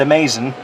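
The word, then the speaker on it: Amaz-N-Smoke: a link in there it's called amaz in it's spelled A- Maze dasn and you say it amazing and all you do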